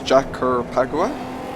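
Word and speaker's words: Jacarepaguá: title anyway uh but this is jack or pacquiao that's how it's pronounced and it's the full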